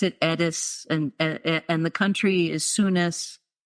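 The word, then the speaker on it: Eddis: And I pronounce it Edis, and the country is Sunis.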